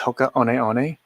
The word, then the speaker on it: Hoka One One: every time he says hoka on eone i will just comment i believe it's pronounced hoka one one like you're saying the number um and usually i